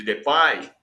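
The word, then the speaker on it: Depay: ele de Memphis de depai de depi a gente já disse que na Holanda a pronúncia oficial a pronúncia na Holanda é de pai e que o Memphis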